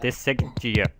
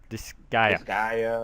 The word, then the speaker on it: Disgaea: Days goes out, and then probably do the Saiga 5, or just do the Saiga 5 on my own. I know that... oh man, the way you pronounce that. Disgaea. Disgaea.